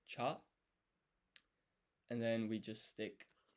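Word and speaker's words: ちゃ: And this is not pronounced chia because this ya is half size. So this becomes a blended syllable, cha.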